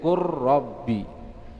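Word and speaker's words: قُل رَّبِّ: Huruf lam dan huruf ra, contohnya beliau sebutkan qul rabbi, jadi masukkan ke huruf yang setelahnya menjadi qur rabbi, ya, dimasukkan ke huruf yang kedua.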